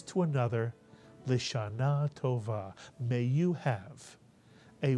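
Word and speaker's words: לשנה: Remember, the shva under the lamed is pronounced because it's under the first letter of a word. And therefore, the first syllable would be lisha, mitsuyan. And the second syllable, na, mitsuyan. Put the word together. Lisha na is correct.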